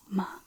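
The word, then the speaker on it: mā: Now the first ma is the first tone.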